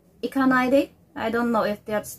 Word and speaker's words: Ikanaide: Ikanaide. Ikanaide. That's the proper way. I got it on the way he pronounces. So that's, there's a cut in the center, and ide on the last.